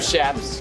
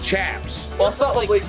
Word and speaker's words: chaps: he's always teasing everybody I call them shaps that's what most people call chaps yeah shaps not chaps you're probably pronouncing like where you guys are from they call them chaps but yeah but we